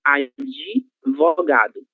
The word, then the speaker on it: advogado: Sempre que vocês virem a letra D seguida de alguma consoante, ela será pronunciada como se houvesse a letra I após ela. Então, a gente lê advogado, de adogado, certo?